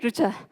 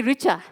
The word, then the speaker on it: Rucha: I'm pronouncing it right, Rucha. But somebody else might say Richa.